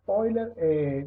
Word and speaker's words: Euler: Entonces aquí les puse una frase de un famoso matemático llamado Leonard Euler, se pronuncia así, se escribe Euler, pero es Euler, dice que en todo lo relacionado con la naturaleza y sus leyes hay razones de máximo.